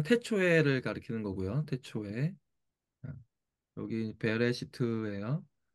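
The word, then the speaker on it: בְּרֵאשִׁית: 가르키는 거고요 태초에 여기 베레 시트예요 베 레 베 시트 시트 이렇게 베레시트 거꾸로 이렇게 발음이 되는 거예요 베레시트 한번 할거요 베레시트 베레시트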